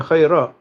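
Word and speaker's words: خيرا: He was asking when you say khair, do you pronounce the alif at the end? Like say khair. Yeah, khayra. Yeah. Because if you stop on khair, that means that it's going to be either kasra or a dhamma.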